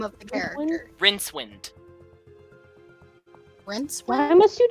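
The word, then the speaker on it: Rincewind: name of the character rinse wind whence why why must you choose the hardest to pronounce names it's rinse wind like rinsing water and wind that's how it's spelled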